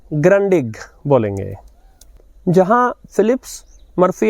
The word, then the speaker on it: Grundig: जो यह शब्द है इसको विश्व भर में ग्रंडिग बोला जाता है भारत में कहीं कहीं डिग भी बोलते हैं लेकिन जर्मन भाषा का शब्द है और जर्मन